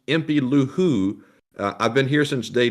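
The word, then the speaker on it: impylou: in the super chat itself who says it's pronounced empty luhu i've been here since day two f the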